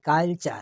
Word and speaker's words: culture: আর এগুলা মনে রাখবেন, বেশিরভাগ শব্দের শেষে থাকবে ঝুলন্ত হিসাবে, এই উচ্চারণটা হবে। তারপর দেখুন TURE, চার, দেখেন কালচার, CULTURE, কালচার, কালচার, সভ্যতা।